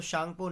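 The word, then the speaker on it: Tsangpo: तिब्बत में ब्रह्मपुत्र रिवर को किस नाम से जाना जाता है, तो शांगपो नाम से इसे तिब्बत में जाना जाता है. सी टी साइलेंट है.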